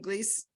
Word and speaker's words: Gles: Mariah Heinrich and Glees. Is that how you pronounce your name, Glees? So I'm from Colombia, so we pronounce Glees.